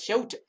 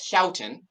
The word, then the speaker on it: Houghton: Michael Houghton. Ooh. Houghton. I put a note in the episode notes, learn how to pronounce this before going live, and go figure, we did it live. Michael Houghton, Houghton.